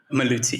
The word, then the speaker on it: Maluti: It's supposed to be Maluti. That's how you pronounce it, right? Maluti.